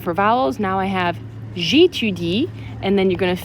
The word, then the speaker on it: j'étudie: J'étudie, make sure you're not repeating j'étudiais when I say it, and you end on the appropriate silent E.